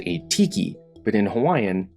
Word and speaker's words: Hawai'i: languages, but because the Kingdom of Hawaii, while pronounced Hawaii, was always written without it.